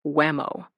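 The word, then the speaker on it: WHMO: The West Wing run by the White House Military Office, WHM O, pronounced Whammo.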